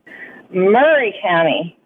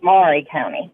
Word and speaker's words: Maury County: Murray County, not Maury County. I know. Even though it's spelled Maury County, like the Maury like the Povich TV show.